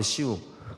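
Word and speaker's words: Siu: 할 때 보통 " 슈 !" 라고 외치는 거 아세요 ? 원래 발음 은 " 시우 " 인데 , 그 는 당시 너무 화가 나서 그냥 " 슈 " 라고 말 했어 요 .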